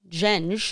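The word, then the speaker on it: Gjenge: And then her company, which I looked up how to pronounce it, Genge.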